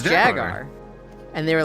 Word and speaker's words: Jaguar: don't know what's happening the U is silent it's jagar please let's not get